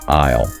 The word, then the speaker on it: aisle: This material offers a helpful little tidbit about the pronunciation of aisle.